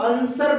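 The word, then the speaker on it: answer: आंसर, आंसर में देखिए यहाँ पे ए एन एस डब्ल्यू ई आर, जबकि हम लोग आंसर पढ़ रहे हैं डायरेक्ट।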